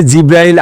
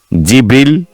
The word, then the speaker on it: জিব্রাইল: আপনি কিভাবে জিব্রাইল আলাইহিস সালামের নাম বলেন? কিভাবে উচ্চারণ করেন তার নাম? জিব্রীল। জিব্রাইল। জিব্রাইল। জিব্রীল। জিব্রিইল এই পাঁচ ভাবে তার নাম উচ্চারণ করা হয়।